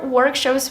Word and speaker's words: workshop: groups with other students the word is pronounced Workshop not Workshop it has this short a sound it's open like stop and hot shop Workshop there are different kinds of